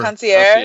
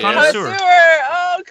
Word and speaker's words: connoisseur: Concierge. Connoisseur.